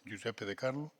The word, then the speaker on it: Giuseppe De Carlo: Està ben pronunciat, m'imagino, Giuseppe De Carlo. Sí. És correcte?